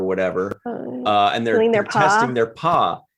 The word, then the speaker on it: Pah-wraith: Realize, okay, so when they're touching the guy, when there's like caressing somebody's ear or whatever, and they're testing their paw, it's spelled P-A-G-H, right?